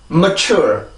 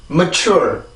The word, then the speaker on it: mature: mature. 다시 한번 mature. 그래서 요 단어는 그렇게 발음을 해주는 게 정확한 발음인 거예요. 절대 멋져 이런 식으로 발음을 하지 말고 항상 이 리듬을 맞춰서 발음을 해주시면 되겠습니다.